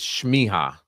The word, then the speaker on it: Smieja: here uh you know a lot of people mispronounce my name shiha I should just let them do it from